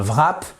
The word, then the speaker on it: wrap: la prononciation pourquoi puisque lorsque vous avez WR le W la plupart du temps ne se prononce pas write to write écrire